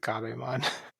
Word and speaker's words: Gerbemon: So I guess we can spell it Gerbemon but pronounce it Gabemon. Garbamon.